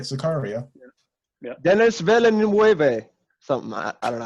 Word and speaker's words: Villeneuve: Denis Villeneuve. Something I don't know how to pronounce it. Got to pronounce it with the French accent. Yeah, Villeneuve.